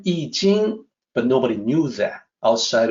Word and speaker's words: I Ching: Well, people say, mispronounce I Ching or I Ching. It's actually I Ching. Why do people mispronounce? Well, it's a result of the previous form of romanization system, the older style, the Wade Giles romanization system.